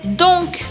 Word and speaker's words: donc: Mais où est donc? Mais où est donc? Esse donc, eu preciso pronunciar o C no final da palavra.